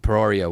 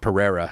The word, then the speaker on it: Pereira: it I agree with him though him and peroria would be the Pereira sorry uh would be the fight everyone wants